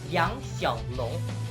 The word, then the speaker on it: Yang Xiaolong: It's actually Chinese for a little sun dragon, and it's actually supposed to be pronounced Yang Xiaolong.